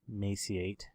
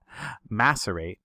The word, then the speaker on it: macerate: But while that's macerating, sorry, I don't know why I say maciate, because that's definitely not how you say that word, says somebody I'd like to point out. I murder the English language, so macerate is the correct way to say that.